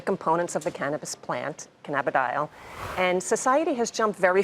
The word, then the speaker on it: cannabidiol: Is it cannabidiol? Is that how I pronounce Correct, it?